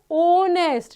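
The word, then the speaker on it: honest: sound produce करता है तो बोलते हैं ऑनेस्ट ना कि नेस्ट नहीं ऑनेस्ट सो दैट्ची हियर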